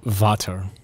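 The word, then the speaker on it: Vater: father in swedish or something in german it's vata yes so it turns out that's actually a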